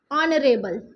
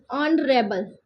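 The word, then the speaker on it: honourable: अब देखो यह क्या है? यहां पर लेटर हमारा क्या है? लेटर हमारा कंसोनेंट है। लेकिन इसको हम पढ़ते क्या है? ऑनरेबल। इसको हम क्या पढ़ते हैं? ऑनरेबल। ठीक है?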